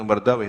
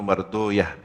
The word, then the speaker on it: Marduyah: dan Imam addilami dibacanya kalau ulama ahli hadis bukan Ibnu mardawih tapi Ibnu marduyah Kenapa karena weh itu dalam bahasa persi bermakna setan taaduban sebagai bentuk adab tidak dibaca Ibnu marardwih tapi marduyah War thaabrani dan berkata